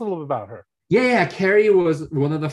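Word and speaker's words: Ceri: was particularly interesting is, I think you pronounce her name, Sari. Yeah. Carrie. Yeah. Carrie. The entertainer. C-E-R-I.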